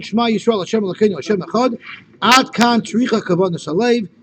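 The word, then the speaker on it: אחד: Well, really, the dalet, the real way to express the dalet is soft. It's soft. Yeah. It's really a chav.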